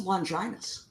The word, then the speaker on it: Longinus: It's the Lance of Longinus. Longinus. I always want to say Longinus. I did, yeah, and I need to see things written sometimes. But the Lance of Longinus, you know, and that's another one of those great examples.